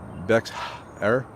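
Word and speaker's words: Bexar: i don't know okay the x in spanish is pronounced like a soft h so dex error does someone say bats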